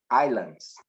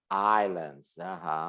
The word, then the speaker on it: islands: pronounce correctly this word so what is the pronunciation aces islands islands islands excellent islands you don't pronounce the ass